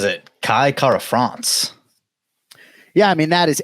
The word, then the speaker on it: Kara-France: day of the week Kai says his last name with that ruled R I've never heard him say Kai Kara France now we're in the business of getting the right syllable right but those who choose to roll the r can or those who are